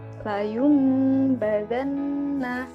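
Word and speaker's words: لَيُنْبَذَنَّ: Huruf mim kecil itu berarti bacanya dirubah menjadi mim. Layum badanna. Nah, jangan lupa untuk berdengung 2 harokat.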